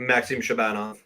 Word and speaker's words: Shabanov: How do I pronounce that? Shabanov? Yeah, Maxim Shabanov.